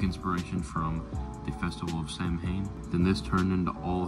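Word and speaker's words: Samhain: originates back to an ancient Celtic Festival called Sam Hayne not a lot of people know this this is actually Gaelic word that is originally pronounced sawin it is a pagan religious celebration to welcome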